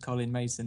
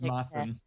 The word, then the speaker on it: Maessen: Interesting fact about CollinMaessen is that it's not pronounced CollinMaessen, is it? No. No, everybody gets it wrong, including me. So, just for the record, it's pronounced Maassen.